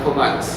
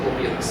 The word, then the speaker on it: Vilous: And it's on a large salt lake called Vilous, or Vilous, depending on how you want to pronounce it.